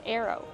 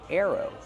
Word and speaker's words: arrow: how do we pronounce Arrow Arrow use the sound air like hair and chair air plus the long o like no and go Arrow this is an arrow